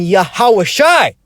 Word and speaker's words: Yahawashi: the name a lost his original pronunciation which is yahawah and yahawashi okay the proof is